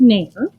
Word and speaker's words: NAEIR: But first of all, it is pronounced NAEIR, and it is something that I discovered through some other teachers online last year.